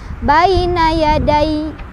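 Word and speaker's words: بين يدي: yadaya terus apa lagi ketika berhenti Anya kan harus jadi sukun tapi tasnya tetep ada maka kita bacanya Baina yadai Baina ya Dai Baina ya Day tetap ada tasnya alhamdulillahirobbilalamin pembahasan kita tentang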